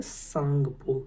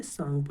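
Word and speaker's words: Tsangpo: तो ये है सांगपो। किस नाम से? सांगपो। यहाँ पे टी साइलेंट होता है और इसको पढ़ते हैं हम सांगपो।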